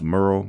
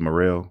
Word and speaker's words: Murrell: Actually, it's pronounced Murrell, but most people, when they read it, they pronounce it Murrell.